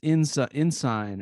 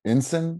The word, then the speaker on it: ensign: How do you pronounce ensign or ensign?